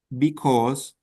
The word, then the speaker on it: because: When we have A and U together, you pronounce as a O. Cause, because, okay?